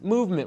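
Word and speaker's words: MVMT: a little something from one of our friends movement watches Lumet watches it's spelled nvm T founded on the belief that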